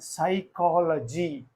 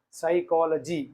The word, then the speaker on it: psychology: g y this is psychology psychology means here p is silent because the word word